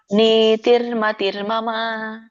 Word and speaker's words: ನೀತಿರ್ಮತಿರ್ಮಮ: ದ್ರುವನೀತಿರ್ಮತಿ ಮಮಹ ಮಮ ನೀತಿರ್ಮತಿರ್ಮಮ ಧ್ರುವನೀತಿರ್ಮತಿ ಮಮಹ ಮತ್ತರ್ ಮತ್ತೆ ಅಲ್ಲಿ ಇದಿದೆಯಲ್ಲ ಮಾತಾಜಿ ಅರ್ಕವಳಿ ಇದೆಯಲ್ಲ ಹಾಗಾಗಿ ಮತ್ತರ್ಮ ನೀತಿರ್ಮತಿರ್ಮ ಸರಿನ